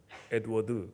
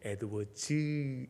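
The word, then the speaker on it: Edwards: 보였던 조나단 에드워즈 말하기 내가 지가 발음이 해서 에드워드 그렇기 때문에 집사람이 탁 어째 당신은 에드워즈 않고 에드워드라고 하냐고. 아니 내가 말하기 쉽게 그냥 에드워드는 뭐같이 말하면 뭐같이 다 알아먹는 집사람은 꼭 그런 것을 훌륭한 야당입니다. 그래서 에드워즈 이렇게 발음을 해야 합니다.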